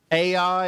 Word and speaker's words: Ai: So God told the people, you're supposed to wipe Ai out, or Ai is really how it's pronounced.